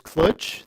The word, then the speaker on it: clj: I pronounce .clj as Cloj. That's my choice. Live with it.